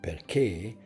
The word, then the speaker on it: perché: like in a word perché. Pay attention. Perché is stress in the last syllable, and the letter A